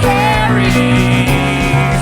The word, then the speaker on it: Kerri: The music started and I was like, Kerri rhymes with scary.